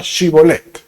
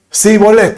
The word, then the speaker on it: Shibolet: Entonces le decían, di pues la palabra Shibolet. Pero él decía Sibolet, o sea, como era otra región, no expresaban bien, porque no podían pronunciarla correctamente.